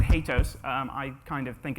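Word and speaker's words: HATEOAS: How many people even pronounce it? I pronounce it hats.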